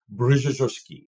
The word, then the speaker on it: Brzozowski: Okay, so in Polish, you would say Brzozowski.